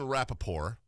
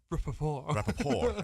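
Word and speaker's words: Rapoport: Ian Rappaport, as I pronounce it. Rappaport. Yeah, like the Stephen Colbert report.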